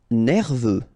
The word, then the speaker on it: nerveux: Nerveux. Final X not pronounced. E-U, E, V, nerveux.